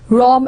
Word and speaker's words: Rome: Roman room and again the words were pronounced like Rome and room but not one is